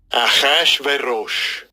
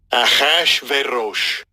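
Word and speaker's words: אחשורוש: Achashverosh. Achashverosh.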